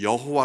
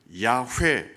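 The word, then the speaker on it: 야훼: 비슷하게 만든 거죠 그게 바로 여호와 여호와 라는 발음이 됐습니다 그래서 지금 우리 성경에는 여호와 라고 하나님의 이름을 기록하고 있습니다 하지만 나중에 학자들이 좀 더 연구를 해보니까 하나님의 이름은 야후의 라는 발음의 좀 더 가깝다 아 그래서 개신교와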